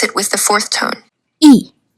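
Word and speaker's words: 一: The number is usually pronounced with the first tone e. However, in yay junju na I pronounce it with the fourth tone e.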